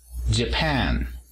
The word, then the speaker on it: Japan: El apóstrofo se encuentra en la segunda sílaba. J. Japan.